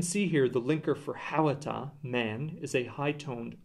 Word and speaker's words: hhawata: As we can see here, the linker for hawata, man, is a high-toned o, but when we say the word man, hawata, we do not pronounce the o.